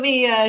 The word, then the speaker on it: em: So like so let me share my screen again here. And that's this is pronounced an M and a REM.